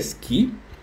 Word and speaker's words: Ski: La pronunciación de ski es Ski.